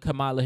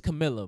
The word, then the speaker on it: Kamala: and all that stuff even the way that you pronounce her name like bread that's not even its Camila brah oh no it's come on let's welcome Camila come on Kamala its Kamala what'd I say Camila okay